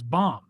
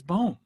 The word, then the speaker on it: Bohm: Baseball told us that his last name was Baum, but it is Bohm, according to the Major League Pronunciation Guide.